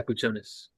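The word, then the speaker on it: Jakučionis: Jaquez Jr., um, Kasparas Jakuncionis. Sorry if I pronounced that Kasparis wrong. Yakuchonis. Thank you, bro.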